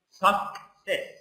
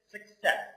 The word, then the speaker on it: success: in lots of places lots of people they pronounce it sucess it's not sucess it's success okay so it's not Su no success success